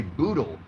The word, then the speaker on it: boodle: It's called a boodle, rhymes with poodle, boodle fight, and that's